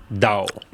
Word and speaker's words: Daou: and gentlemen, this is the Pessimist wine by Dao. The company is spelled Daou.